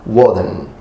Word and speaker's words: Woden: But in Old English, or Anglo-Saxon, it will become Woden, which came from Old Saxon, where it was pronounced Woden. This god was mentioned throughout